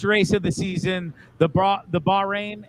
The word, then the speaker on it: Bahrain: I mean, we just had the first race of the season, the Bahrain. Is that how you say it? Bahrain? Yep.